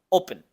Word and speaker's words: open: barn Doors y luego la palabra Open después de la o pronunciamos una p y luego la e se pronuncia con sha o sea este sonido reducido corto Open y la n del español al final qué tal te fue